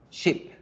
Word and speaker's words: ship: La palabra barco se dice con la I corta, ship, ship, ship, ship. Oveja se dice con la I larga, sheep, sheep, sheep.